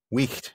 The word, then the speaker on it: wicht: that in Middle English, the word wight, or wicht, as it's pronounced in Middle English, it just meant a person, just a guy, basically.